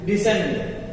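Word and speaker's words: descent: यहाँ डिसेंट, क्या दिया है? डिसेंट। अब ध्यान दीजिए, सी के पहले यस क्या हो जाएगा? यहाँ पे साइलेंट।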